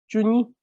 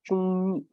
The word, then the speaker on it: chungni: So instead of chuni, it becomes chungni.